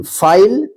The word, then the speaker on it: file: FILE, फाइल।